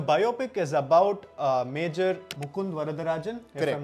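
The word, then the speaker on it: Mukund Varadarajan: five languages the biopic is about uh major Mund varadarajan I'm not wrong if I'm not butchering the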